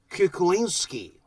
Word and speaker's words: Kuklinski: to talk about it much deeper okay richards kukulinsky the correct pronunciation is kuku linsky uh his father is